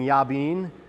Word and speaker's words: Jabin: And there was a king, King Yabin. In your Bible, it's spelled Jabin or Jabin.